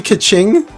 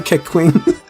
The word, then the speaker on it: Keqing: Her name's supposed to be Kaching. I call her Keqing.